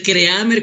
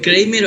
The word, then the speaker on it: Creamer: Puede ser Creamer como se escribe, o Kramer o Krimer, depende de dónde venga también.